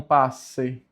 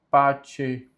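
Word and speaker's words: parce: Por que é pace e não passe? Porque o C com E tem som de che no latim. Por isso a pronúncia correta é pace.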